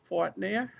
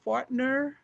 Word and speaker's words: Fortner: We have Cindy Fortner. How do you pronounce that? Fortner? Fortner. It's fine. Oh, Fortner. Fortner. Okay, and where'd my no ink lady go?